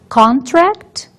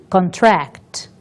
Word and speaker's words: contract: Vejamos duas palavras contract e contract. O apóstrofo diante de uma palavra indica que esta é a sílaba tônica. Portanto, se eu digo contract, o apóstrofo está diante de con. Mas se eu digo contract, o apóstrofo estará diante de tract, indicando a mudança na sílaba tônica da palavra.